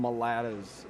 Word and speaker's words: mulatto: There's natives, which they call them mulattas, but which is like What? Supposed to be Okay. like mulatto. a yat pronunciation of mulatto.